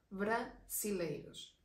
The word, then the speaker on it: brasileiros: Las personas de Brasil serían brasileiros. Aquí ya la Z o la S no es tan pronunciada, simple, se suena más suave.